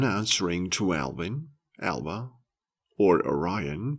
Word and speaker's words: Orion: to Alvin Alba or Orion pronounced Aryan with the accent on the first whether they are indeed